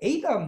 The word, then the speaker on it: Adam: 우리 아담이라고 읽어도 되고 그 사람들 애국 사람들이 Adam 이렇게 잘 읽어요.